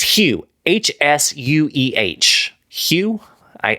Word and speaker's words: Hsueh: Uh, but I think it's Malika Sachdeva and Michael, I think it's Hsueh, H S U E H. Hsueh? I I would assume S is silent.